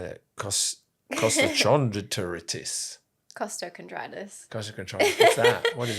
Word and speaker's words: costochondritis: Costochondritis.